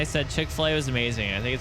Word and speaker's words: Chick-fil-A: It's like Chick-fil-A, but it's not pronounced Filla.